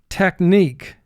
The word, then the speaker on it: technique: mark the word technique here we have in the second syllable i representing the long e sound so we put an x under it to indicate it's representing a sound it normally does not represent align align i hope